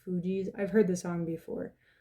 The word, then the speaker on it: Fugees: And then the other song that got channeled through after that was the song Ready or Not by, I believe it's pronounced Fugees.